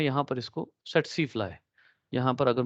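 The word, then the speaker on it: tsetse: ये सेट सी है, ठीक है। इसमें सी जो है वो साइलेंट है इंग्लिश के अकॉर्डिंगली।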